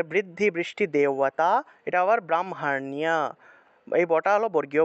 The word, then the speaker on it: ব্রাহ্মণ্য: তাহলে বৃদ্ধি, বৃষ্টি, দেওয়াতা, এটা আবার ব্রাহ্মণ্য, এই বটা হলো বর্গীয় ব। তাহলে ব্রাহ্মণ্য, ব্রাহ্মণ্য, এখানে মূর্ধন্য আছে, জফলা আছে, তাহলে জফলা থাকায় নিয় উচ্চারণটা হবে, নিয়, ব্রাহ্মণ্য, ব্রাহ্মণ্য, এইভাবে নিয় উচ্চারণটা হবে।